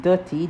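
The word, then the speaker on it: duti: you know that's from ghana okay so it's pronounced dirty d-u-t-i in jamaica reference to the ground or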